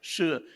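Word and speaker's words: Shih: Shi is pronounced, spelled that way, I don't know why.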